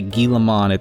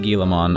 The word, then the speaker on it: Guilmon: I mean, even if you're not trying to pronounce the at the end, if you try to say Guilmon, it's kind of just sounds the same.